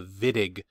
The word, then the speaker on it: Wittig: the wittig reaction so that w is pronounced with a v the wittig reaction and we are